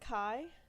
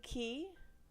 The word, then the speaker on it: Kai: uh the prince's name I would pronounce it Kai it may be key it's k-a-i um welcome to these three letters can be pronounced multiple ways I'm going to say